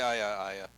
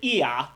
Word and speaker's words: Ia: I say Aya. Aya? Isn't Aya Oh! The Black Goat in the Wood with 1,000 Young? Sorry. Yeah, no, that is correct. I've always pronounced it Iya, which is why I got confused. I'm like, who the fuck is Aya spelled A-Y-A? Ew. See, it's IA. You know, however you want to pronounce that.